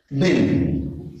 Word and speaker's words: been: بعدها على طول كلمه بن هاز بن. طبعا في ناس كتير بتنطقها بين ولكن طبعا القراءه المظبوطه بتاعتها بن هاف بن وليس بين لان كلمه بين يعني فول مش تبعنا اصلا.